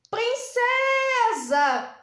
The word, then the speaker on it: princesa: Eu vou chamar a palavra princesa. som que saiu mais forte? É o som do C. Então, eu sei aqui que a penúltima sílaba é a mais forte.